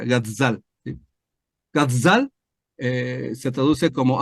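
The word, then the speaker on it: גזל: para que sepas solamente Entonces se pronuncia gazzal como una abeja gazzal gazzal eh se traduce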